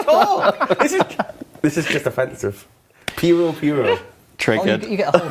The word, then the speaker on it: Puro: Instance pura. Why? Why is it? Yeah. How do you say it? Are you judging how I said pura? Puro.